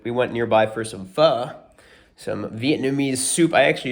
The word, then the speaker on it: pho: How do you pronounce this? And she's like, pho.